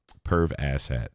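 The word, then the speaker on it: Perv Asshat: this show but uh perv ass hat that's exactly how it's it's said and that's exactly how it's spelled PE RV as s h a t it is what it is pervas hat who is um a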